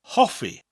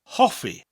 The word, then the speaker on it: hoffi: dislikes the important word in this lesson is javi which means to like or liking javi javi what's a good way to remember this